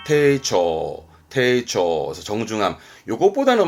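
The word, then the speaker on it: 丁重: 발음은 테이초, 테이초.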